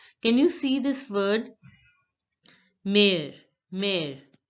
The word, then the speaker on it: mère: Mare, mare. Because of this accent, the pronunciation of this word mother becomes mare, mare, mare.